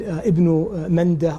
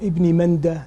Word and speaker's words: Ibn Mandah: Ibn Jarir al-Tabari, and Ibn Mandah, or Ibn Mandah, the two different ways of pronouncing his name.